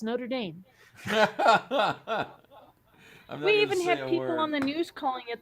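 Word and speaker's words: Notre-Dame: Dame and they're like Notre Dame is the football team in the college the the church was Notre Dame I'm like you it's Notre Dame we even have people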